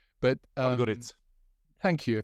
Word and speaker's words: Podgorica: I can't pronounce it. It begins with P, but Podgorica. Thank you, Podgorica.